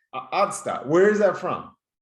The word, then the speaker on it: Otstot: Ottstadt. Ottstadt.